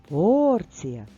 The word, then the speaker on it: порція: ні тож пропускаємо слово порція порція наголос на першому складі тож це слово ми